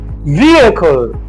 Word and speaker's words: vehicle: So we have v e vehicle. Vehicle. Vehicle. Vehicle. All right. So, this actually have other alternative pronunciations, but this is the standard pronunciation of the word vehicle.